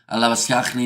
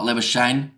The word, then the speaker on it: Labuschagne: And thank you for saying Lavaskachny, not Labuschagne, like the Australian counterpart. Says bystander. Of course, when we're doing cricket, we'll call him Labuschagne, since that is how he pronounces it. But yeah, Lavaskachny, anytime it is a South African player playing.